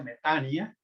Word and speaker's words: metanoia: dice metanoia, así literalmente así se escribe, metanoia, pero se pronuncia, ya lo hemos aprendido, se pronuncia metania, y en donde la palabra mía significa mente y meta es la palabra cambio.